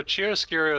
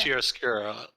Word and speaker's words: chiaroscuro: so Chiaroscuro is actually a word that already existed.